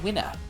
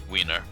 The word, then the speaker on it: Winner: You're making a spelling mistake with how to say my name. It's Mr. Winner. Wiener.